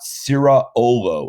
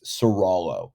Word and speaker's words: Ciraolo: in about two weeks it's not sera olo it's serallo so california v serallo say it yourself serallo seralo serala and this